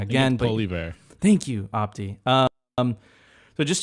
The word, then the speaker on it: Poilievre: I'm going to pronounce that wrong again. Poilievre.